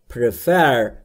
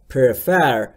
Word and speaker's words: prefer: دوستان تلفظ prefer رو دقت بکنید. پریفر یا پریفر یا هر چیز دیگه ای نیست. بین P و R صدای شما مشاهده نمی کنید. پس تلفظش میشه prefer, prefer, prefer.